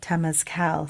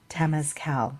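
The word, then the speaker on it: Temazcal: and we had the Tas Cal ceremony so it's t e m a z c a l Tas Cal I think it's how it's pronounce I'm not sure but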